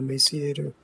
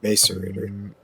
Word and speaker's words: macerator: Is it called an emaciator? Oh, no, not an emaciator. What is it? Macerator.